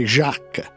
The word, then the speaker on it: Jacques: I primi verbali riporteranno il nome Jack all'inglese, ma è Jacques, francese, quello che pronuncia la ragazza.